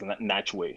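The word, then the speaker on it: Nachtwey: I think it's Natchway is how you pronounce his name.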